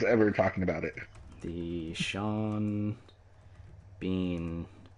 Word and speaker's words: Sean Bean: The BH in Sean Bean is pronounced like a V, and the whole word is pronounced like Vaughn. Like Sean Bon, yeah.